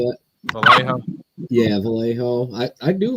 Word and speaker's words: Vallejo: Yeah, Vallejo.